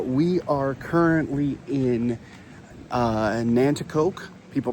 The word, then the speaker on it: Nanticoke: But, uh they call it they say Nanticoke, but it's Nanticoke. I'll put it up on screen here so you can see how it's spelled, and then you'll hear the difference in how it's pronounced.